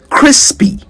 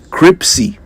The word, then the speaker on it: crispy: my breakfast cravings to correct a commonly mispronounced word. Crispy. C R I S P Y. Crispy, not crysy.